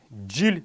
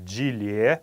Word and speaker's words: жил: следующее слово это jul jul это год не нужно говорить gillet это неправильная форма во всех не только